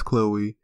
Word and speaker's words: Chloe: You probably can tell that that's Chloe. It is Chloe. Because, you know, you don't have that little accent over the E. But that's pronounced Chloe, guys.